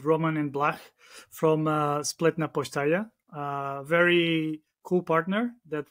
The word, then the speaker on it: Spletna postaja: we get here cool um Bruno thanks for pronouncing our name it's called actually split naaya it means it's funny it means web station